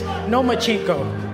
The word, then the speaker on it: Lomachenko: You are now the mandatory challenger for Vasyl Lomachenko's 135-pound title. Do you believe, at 20 years old, you're ready for that type of challenge? I think you said his name wrong. It's Lomachenko, because he doesn't want to fight me.